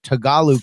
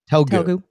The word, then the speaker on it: Telugu: a particular Indian language Tagalog character. Is that how you say it? Telugu.